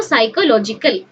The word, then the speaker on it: psychological: बट एठी पी टा silent रहइबो, याको पढाबो साइकोलॉजिकल. साइकोलॉजिकल वर्ड टा कोथरो आछि?